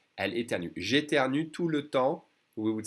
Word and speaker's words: temps: We don't say the PS.